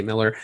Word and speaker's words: Millar: Yeah, Miller world, yeah. That's right. It's spelled Millar but I think he does say Miller.